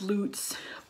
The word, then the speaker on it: Luts: dolls are from Lutz I'm pretty sure it's pronounced Lutz puds I have always said lots in my head so that's why I